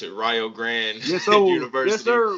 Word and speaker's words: Rio Grande: You're up in how y'all pronounce it, Rio Grande Yes, sir. Yes, University sir. Rio like out in Ohio.